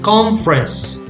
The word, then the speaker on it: conference: Conference. Two syllables. Yes. Conference.